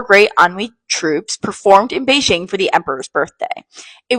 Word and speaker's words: Beijing: Have you ever heard of Peking opera and wondered what it was? Did you know that Peking is the Western mispronunciation of Beijing from when trade was